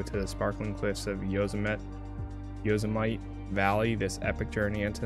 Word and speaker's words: Yosemite: Yosemite. Not might.